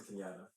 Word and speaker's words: Kenyatta: First of all, I want to tell you um my middle name is Kinata. Hey, how you spell it?